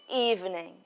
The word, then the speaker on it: evening: and midnight you would say good evening good gir Oh duh good evening evening evening tension to the new sound Eve evening and this was the stress is on the first syllable evening good evening do